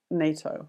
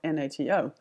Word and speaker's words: NATO: rules for abbreviation is if we pronounce the abbreviation as a word NATO not natl we don't use the